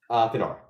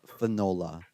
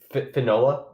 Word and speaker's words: Finola: Finola. Okay. Yeah, it's like she's gonna hate me saying this. It's like granola, you know, like granola. Just replace gur with fun. Yeah, Finola.